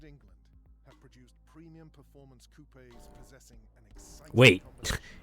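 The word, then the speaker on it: coupé: Italy Germany and England have produced premium performance Coupes possessing wait it's pronounced Coupe really I've been pronouncing it Coupe this whole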